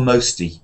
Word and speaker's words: most: yes most forgetful yeah the problem most people have is they don't say oh at all here they say m you you didn't say m but you said a little bit too mosty you need to be a bit more mosty most most most forgetful so